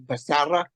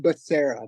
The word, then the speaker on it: Becerra: you on my show a lot of people including myself say my name wrong it's supposed to be basara but I say it's just Basera Basera and that's like the American you know it's good that we